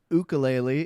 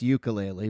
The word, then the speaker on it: ukulele: like, so Hawaiian it's ukulele, in English it's ukulele, but you know, both are okay.